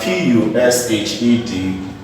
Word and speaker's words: pushed: If you have PUSHED, the word is pronounced as pushed.